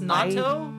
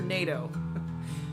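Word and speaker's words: natto: it with spicy mustard and uh sauce it's pronounced Nat yes Nat okay so don't go and ask for NATO no uh you can get it at convenience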